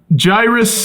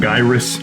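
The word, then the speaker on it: Gyruss: yeah copycat yeah but gyrus uh that's how you pronounce it right not gyrus correct gyrus I I really I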